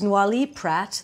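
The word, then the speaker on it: Noilly Prat: that but Martini has vermouth now this is Nali Pratt that's how you say it no Pratt makes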